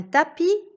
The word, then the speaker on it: tapis: muet dans un camp un tapis est un mot de la même famille que la tapisserie dans lequel j'entends le s qui était muet dans le mot tapis certaines terminaison des verbes